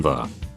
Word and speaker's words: ye: It made a buzzing sound like in the. It's why you see signs like ye olde shop. It's pronounced the old shop, not ye old shop.